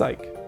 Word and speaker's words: Ike: background on Ike and it is Ike not eek even though like some may think oh it's if this is Japanese creation it'd be pronounced eek right like no it's Ike hence the we like